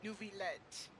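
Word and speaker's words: Neuvillette: to tell my friend I found out how to say his name his name is nuet but we're going to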